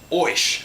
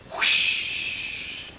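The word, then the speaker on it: Ouisch: You say it like, it sounds like the wind. Whoosh. So her name isn't Oish, it's whoosh.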